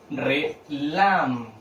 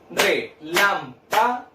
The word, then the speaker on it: relámpago: Relámpago. Tengo 4 sílabas, independiente de eso. Relámpago. ¿Dónde cargo la voz? En la sílaba lam.